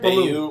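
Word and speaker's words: Beaulieu: I think it's like French. It's Red Baloo.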